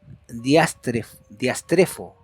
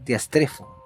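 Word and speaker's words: διαστρέφω: ahí Ah y el la traducción es más o menos diastre foo Eso significa perversa o perverso diastre foo la pronunciación más cercana y la definición veámoslo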